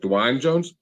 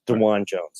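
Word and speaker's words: Dawand Jones: how do you say is it uh Dwayne Jones yes it's DeJuan Jones It's Not Dwayne Jones I had someone you know around me one day call him Dwayne yeah I was thinking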